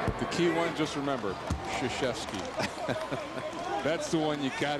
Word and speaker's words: Krzyzewski: The key one, just remember, Krzyzewski. That's the one you got to get. See, right. I was doing well with that. Przewanski, I said it right all night and I stumbled once.